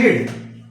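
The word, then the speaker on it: read: हालांकि उसका उच्चारण जो होता है इसका जो प्रोनंसिएशन होता है वो रेड होता है।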